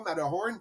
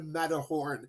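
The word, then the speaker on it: Matterhorn: En passant, pour les gens qui savent pas, Mathor Horn, c'est la la prononciation allemande. C'est la montagne, le cervin, en fait, c'est le servin qui était sur la frontière de la Suisse, mais quand on le prononce en allemand, c'est le mhor Horn.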